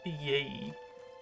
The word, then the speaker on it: ye: Isn't like ye actually just pronounced with the, and it's just that Y used to be the letter for TH?